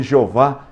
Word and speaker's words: Jeová: invenção que na verdade a pronúncia do tetragrama se perdeu que é o y o h o w h e os rabinos pegaram depois que desenvolveram as vogais para facilitar o aprendizado e enxertaram as vogais de adonai no tetragrama surgiu a pronúncia jeová que está na nossa bíblia ela vai ter que